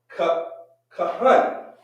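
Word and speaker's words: כהן: We're going to remember, at the end, we're going to drop the A and say hun, right? Ha-un, right? Kahun, which means priest, right?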